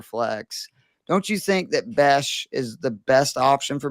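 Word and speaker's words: Bech: I am thinking about taking Jack Beck because I need. How do you say it? I'm sorry. Besh, like Besh. E-S-H. I mean, I'm in mid-season form if I'm already mispronouncing people's names.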